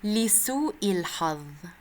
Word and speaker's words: لسوء الحظ: لسوء الحظ, unfortunately. In عامية you can say the ظ sound sometimes as ذا. In فصحى we say لسوء الحظ.